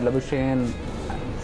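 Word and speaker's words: Labuschagne: और more than Smith, more than लबुशेन, since that is the pronunciation we use nowadays.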